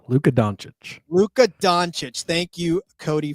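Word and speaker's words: Dončić: fan or even a somebody please somebody please pronounce that for me Luca it's donic Luca donic LCA donic thank you Cody for that did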